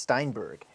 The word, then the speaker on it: Steinberg: And that's the correct and that's how you must say it. Yeah, it's pronounced Steinberg.